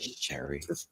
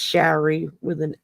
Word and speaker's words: Shari: technically, it's Shari Uh because huh. it's ARI, so it's pronounced Shari, not Sherry, and not Cherie, and not.